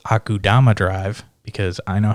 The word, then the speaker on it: Akudama Drive: we had went over, which was I called Akumuda Drive, which was also another gang-based one. I haven't watched that yet. I want to watch it. It's actually pronounced Akudama Drive because I know how to read, and thank